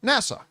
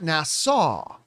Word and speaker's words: NASA: me and say, John, that's not how you pronounce the word. It's NASA, not Nassau.